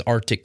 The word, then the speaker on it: RTIC: The best bang for your buck in coolers is Arctic coolers. It's spelled RTIC, and between their hard